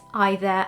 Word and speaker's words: either: of saying it and the other two words are either and neither which in american pronunciation